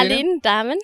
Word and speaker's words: Aline Dahmen: How do you say Aline Dahmen.